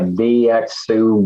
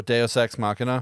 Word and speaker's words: deus ex machina: forget how to say it but it's like vxu god of the machine or something like that oh deus ex machina yeah cool i had genre so maybe i